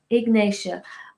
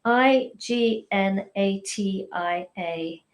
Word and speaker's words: ignatia: would you say that slower and kind of spell it ignatia i g n a t i a ignatia and it's a remedy that has a